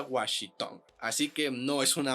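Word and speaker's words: Wan Shi Tong: Tong se escribe wan shing Tong pero se pronuncia washitong Así que no es una amalgama de los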